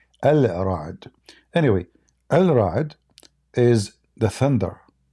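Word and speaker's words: الرعد: Like, I mean, when they say Ar-Ra'd, they are just saying it how they pronounce it, but it's not correct. Al-Ra'd.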